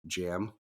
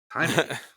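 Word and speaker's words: Jaime: it was so annoying because the guy kept pronouncing it as like jam not even Jamie he was like jam Rees I was like no it's Hae can you hear yeah it's it's it's really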